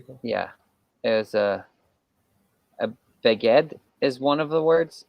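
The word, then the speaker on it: בגד: In English, you put the stress of a word usually on the last syllable, and in Hebrew you put it in the second to the last syllable. So in you just said beged, and it's beged. So beged, not beged.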